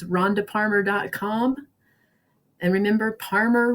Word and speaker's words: Parmer: And remember, Parmer rhymes with farmer.